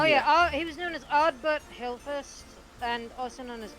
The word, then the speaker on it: Ardbert: 6 including Adelbert. Oh yes. Yeah, right. Did you say Adelbert? If I got his name wrong, I am bad with names.